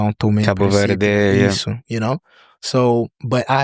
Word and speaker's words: Cabo Verde: So okay, for the record, it's Cabo Verde. Cabo Verde. Okay, we got it. That's how they say it, you know.